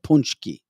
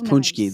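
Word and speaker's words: pączki: pronounces it very well because it's spelled p-a-c-z-k-i punchki oh and Michelle says her mother made him for her daddy yeah yeah so that's punchki that's what they were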